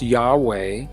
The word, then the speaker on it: YHVH: I am convinced beyond any reasonable doubt that this name YHVH pronounced Yahweh is the name that was in those original traditions.